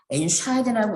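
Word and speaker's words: entscheiden: 샤이덴 앞에 비분리 전철 엔트를 붙이면요. 강세를 엔트에 두시면 안 됩니다. 샤이덴에 두셔야 됩니다. 엔샤이덴이라고 읽으실 거고 과거는 엔쉬드가 맞는데 과거분사는 기본 동사의 과거분사 개 자리에 비분리 전철이 들어가서 엔쉬덴이 됩니다.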